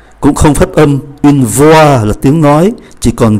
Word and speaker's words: voix: Ký tự X cũng không phát âm, une voix là tiếng nói, chỉ còn V-O-I không phát âm ký tự X. Une noix là hạt óc chó, une noix không phát âm ký tự X.